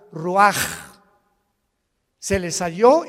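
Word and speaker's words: רוח: capítulo y exhaló Isaac el Roach así como suena se pronuncia la c en hebreo como J ruaj se le só y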